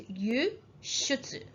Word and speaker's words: 輸出: However, for the word export, it is 輸出, 輸出.